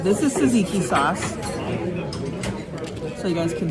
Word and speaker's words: tzatziki: It's tzatziki. It's spelled with a T and a Z.